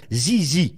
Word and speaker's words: ZZ Top: C'est bien ZZ Top, et il faut prononcer ZZ, attention.